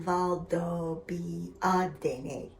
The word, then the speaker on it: Valdobbiadene: The finest regions for producing better grapes with either more minerality and fruit flavor concentration will have the word Valdobbiadene, pronounced Valdobbiadene, or Conigliano, pronounced Conigliano.